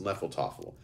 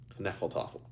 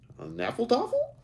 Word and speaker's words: Nephilotoffel: "It's pronounced Nephilotoffel. The H is silent," Alan returned, saying it with confidence. "Say it with me. Nephilotoffel." "Nephilotoffel?"